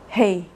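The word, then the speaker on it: ה: você não mexe nada Hei você não faz força para pronunciar praticamente né sua pronúncia ela é parecida com o h de house em inglês e isso remete que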